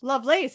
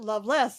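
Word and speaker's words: Lovelace: go to Eva lovelies love lace as she pronounces it love less as everybody else pronounces it that's right I had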